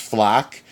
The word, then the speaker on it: FLAC: they give you the I think it's pronounced flack F L AC and